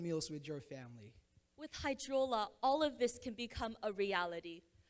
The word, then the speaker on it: Hydrola: Okay, after Ghosted, we have H2 Hydrola. How do you say it? Oh, Hydrola, even better, Hydrola.